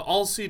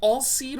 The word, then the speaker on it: Alseid: The Alseid is... By the way, is it Alseid or Alseid? Like, when I see S-E-I-D, I think of the comic book character Darkseid. That's spelled all weird.